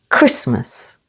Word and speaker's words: Christmas: the first syllable Castle Christmas with the stress on the first syllable Christmas and listen again with